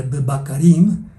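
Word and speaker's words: בבקרים: allí en sus notas, que se escribe con B, B, Q, R, Y, M, que se pronunciaría Bakarim, y significa con bueyes.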